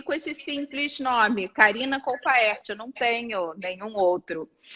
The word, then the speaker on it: Colpaert: Como que pronuncia o seu sobrenome? É Colpert? Colpaert. Karina Colpaert. Não abrevia, é Colpaert.